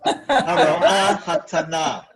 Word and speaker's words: Haroa Haktana: The accent is on the last syllable. So, Haroa Haktana.